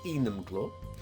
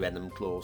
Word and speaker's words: Enumclaw: was where i was going but apparently it's enum claw although if you ask google how to pronounce it i think google tells you enemyclaw so we'll just uh yeah i found two